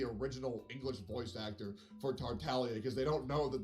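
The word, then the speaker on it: Tartaglia: english voice actor for tartalia because they don't know that the names origin is of italian descent where the g is silent but that's all right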